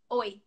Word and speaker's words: oi: So first one is how you say hi. It's oi, oi, oi, oi.